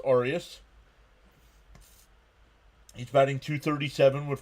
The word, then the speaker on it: Arias: It's pronounced Arias.